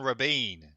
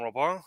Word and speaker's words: Robin: very special guest Rabin Robin hello guys yeah you can say roban but since it's a French pronunciation you can call me yeah I just call